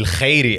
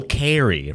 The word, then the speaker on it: Khairy: My guy, Khairy, or as they say, Khairy, right? Yes, sir. You got to pronounce it with the K so they think you're a white dude.